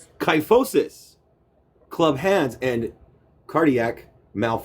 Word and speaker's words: kyphosis: Interesting pronunciation. Kyphosis. Kyphosis.